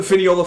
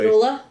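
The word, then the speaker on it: Fionnuala: is grandma grand grandmama grandm uh Finiola Flanigan or sorry let me try that again. Oh, this is like an Irish name. I don't know if I'm going to pronounce this correctly. Finula.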